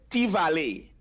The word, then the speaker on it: T-Valley: For Petit Valley in the Patois is T-Valley. T-Valley. T-Valley. Right? As T-Valley. you know the plant, T-Valley. Timari, the plant, so T in Patois is little.